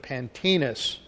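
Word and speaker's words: Pantaenus: his teacher, a man by the name of Pantinus. Pantinus, that's spelled P-A-N-T-A-E-N-U-S, Latin form, who died about A.D.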